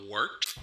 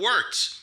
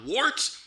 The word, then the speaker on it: Wort: It is the Wort. Not wart, not fort, not short.